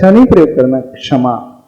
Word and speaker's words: क्षमा: यानी जब हम उसका उच्चारण करेंगे क्षमा का, तो अंदर से पहले क का देखना उच्चारण अवश्य आएगा, क्षमा। क्षमा नहीं, क्षमा। हाँ, क्षमा। पहले हम क का उच्चारण कर रहे हैं।